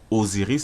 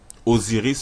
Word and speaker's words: Osiris: en lingala et d'ailleurs osiris se prononce avec la lettre z mais on l'écrit avec la lettre s tout comme cousin en